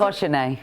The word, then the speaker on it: cochonnet: No, it's cochonnet.